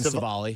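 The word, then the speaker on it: Civale: Aaron Savali. Savali? I was close. Yeah. Which is odd because that's a pretty easy name to say. It's so weird for me that I can't do Savali.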